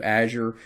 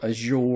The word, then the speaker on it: Azure: You may pronounce that name, that word, a little different than I do, Azure or Azure or Azure.